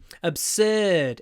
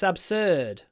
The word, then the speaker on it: absurd: what an absurd suggestion absurd it's the ER sound so it rhes with third or bird bird absurd the third bird looks absurd there we go uh